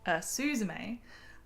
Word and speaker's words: Suzume: sat down around dinner time and I watched Suzume. Suzume. I can say it right. I've been rehearsing in my head and then I still said it slightly wrong, but that's okay. Suzume.